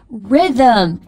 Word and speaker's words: rhythm: H 不发音，然后像 Rhythm 节奏 RHYTHM 第一个 H 不发音。